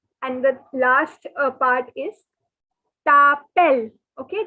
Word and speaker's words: t'appelles: And the last part is tapel. Okay, the S is silent. Tapel. It is not tapele, it is not tapeles. Okay, please note it is tapel.